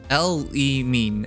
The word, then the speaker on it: Elimine: pronounced Elimine.